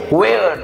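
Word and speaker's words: where: इसमें भी H silent है. यू हैव टू से वेयर, डू नॉट से वेयर, डू नॉट से वेयर वेयर, you have to से वेयर.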